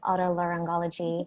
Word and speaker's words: Otolaryngology: sort of a day on the life in Otolaryngology head and neck surgery yes Oh to learn Goldy Otolaryngology I've heard both pronunciations thank you either way you're good Oh